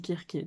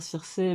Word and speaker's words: Circé: On dit Kirké, normalement. On peut dire Circé, mais si on veut le prononcer correctement, je crois qu'on dit Kirké.